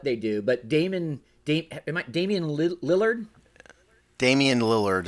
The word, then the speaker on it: Lillard: Damian Lillard is how he pronounces it.